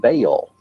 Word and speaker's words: Baal: Bell, spelled B-E-L, is usually pronounced Bell, but both Strong in his Hebrew dictionary and Fariabin in his prefer to say Baal. The word is probably the contracted form of some other Hebrew word, commonly pronounced Baal and spelled B-A-A-L.